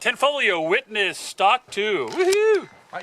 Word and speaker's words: Tanfoglio: the Range rolling see tank tank folio not the g is silent ten folio witness stock to woohoo